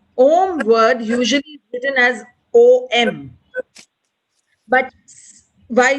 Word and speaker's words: Om: syllables if you go om is a three lettered syllable sound wise so when you are chanting the syllable is oh it's in three parts so first is o then is oo and then is um the closing mum all right so it